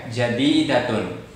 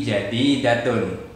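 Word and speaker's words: جديدةٌ: Jadidatun adalah atau itu adalah baru. Kata jadidatun, iya, itu sebagai predikat. Predikat itu juga dhammah. Oke, jadidatun menggunakan dhammatain. Bukan jadidatu bacanya, tapi jadidatun.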